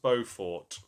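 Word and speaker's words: Beaufort: It's pronounced bowfort.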